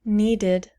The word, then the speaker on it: needed: When we change it to past tense, it becomes needed, needed, needed. Two syllables. And the ed is pronounced id.